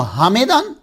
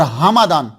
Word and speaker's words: ہمدان: کا رہنے والا ہے، اس کا تلفظ جو ہے وہ حمیدان اور حمدان، میم کے نیچے زیر اور میم کے اوپر زبر، دونوں طرح ہے، حمیدان حمدان۔ یہ دو ان حمدان